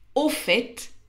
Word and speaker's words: au fait: au fond par contre au fait et on prononce aussi le T veut dire soit dit